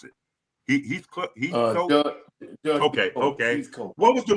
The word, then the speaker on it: Heathcote: How you pronounce it? Heathcote.